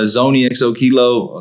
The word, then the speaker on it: ZoneyXOKilo: tongue Twi yeah yeah I mean Zone XO kilo that's that's how you pronounce a lot of people